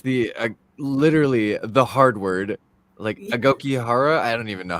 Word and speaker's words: Aokigahara: Okay, so I was trying to figure out how I could say the correct name, but it's the Aokigahara suicide. Yeah. You said it right. It's the literally the hard word, Aokigahara.